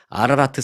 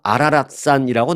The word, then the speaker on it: 아라라트: 아라라트 산은 휴화산, 이 아라라트 산이라고 제가 말씀드립니다만은 성경을 잘 아시는 분은 이 발음이 매우 익숙할 수도 있습니다. 제가 좀 아라라트 산 이렇게 했지만 성경 쪽에는 아마 아라랏산이라고 나올 겁니다. 한국 성경책에는.